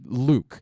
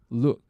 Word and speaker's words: lewk: her intern symposium uh luke is that what they call lewk luke look how do it's just look they just spell it a different way was unaware